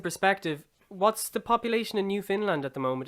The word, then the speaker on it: Newfoundland: So instead of Newfoundland, it's Newfoundland. Like you pronounce the You land, really but got the to fin is right. go broad in that AVL, yeah. Yeah. Newfoundland. Because obviously, Yes. Yeah, that's good. That's correct. Newfoundland.